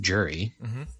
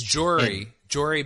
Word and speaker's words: Jory: You always pronounce Jory's name Jury, like a jury for court? Yes, I do. But I do it. My cousin has the same name. Yeah, it's Jory, Jory, but as in like Marjorie.